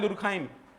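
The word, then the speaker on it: Durkheim: Email दुरखाइम French word है। अक्सर इसमें प्रोनाउंसिएशन में गड़बड़ होता है।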